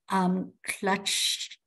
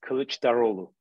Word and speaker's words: Kılıçdaroğlu: butcher this name, Kemal Clutch. Oh, see, now I'm helping out here. The HP party. Okay. How is the name pronounced? It's Kılıçdaroğlu.